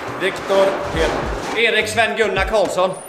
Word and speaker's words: Viktor Erik Sven Gunnar Karlsson: Linus Ullmark, Viktor Erik Sven Gunnar Karlsson.